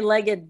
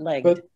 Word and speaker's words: legged: You have to say legged, but two syllables, not legged.